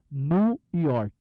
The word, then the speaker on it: New York: they have gone to New York. Eles têm ido para Nova York e Nova se pronuncia nu, lembra? New, não diga new, diga nu, como se fosse ele está nu, sem roupa. New York.